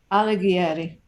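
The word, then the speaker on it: Alighieri: useful to everybody okay his last name is alegri thank you lord um laura thank you i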